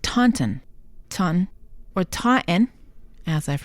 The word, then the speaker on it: Taunton: is a town in the Southshore of Massachusetts pronounced tanton ton or tten as I've heard over the years but not Tonton the Tonton is a species of snow lizard